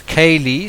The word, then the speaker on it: Kaylee: One is the fact that Kelsey's daughter's name is Kaylee, spelled with a K, and obviously it's the same way that you would say the name of Casey Anthony's daughter.